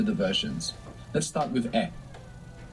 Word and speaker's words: he: Let's start with e. E, all by itself, means I have. It's spelled H-E. And of course we have the silent H there from haber in e, H-E.